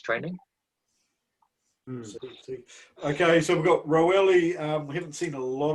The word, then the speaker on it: Roelly: It's pronounced Roelly. Roelly.